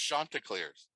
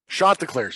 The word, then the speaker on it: Chanticleers: Pronounced Chanticleers. Chanticleers.